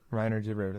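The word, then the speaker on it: Reiner de Ridder: De Ritter? Reiner de Ritter. Reiner de Ritter, that's right.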